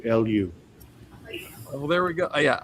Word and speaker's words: Eliu: Eliu? Oh gosh, you got to help me out, Wati. It's Eliu. Eliu.